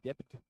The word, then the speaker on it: debt: DBT, debt, but the B is silent.